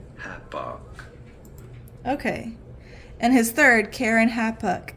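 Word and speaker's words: Keren-happuch: okay and his third Karen hapuk again it looks exactly how it sounds uh I just looked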